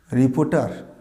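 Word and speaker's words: reporter: রিপোর্টার। তোমরা কি অনেকে রিপোর্টার বললে? না, উচ্চারণটা রিপোর্টার নয়। আর অনেকে ঠিক হয়তো বলেছো যে কারণ শেষের আরটা হবে না।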